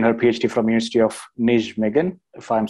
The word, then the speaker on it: Nijmegen: Russia, and obtained her PhD from University of Nijmegen, if I'm saying it right. Anna, just correct me if I'm wrong. Nijmegen, okay.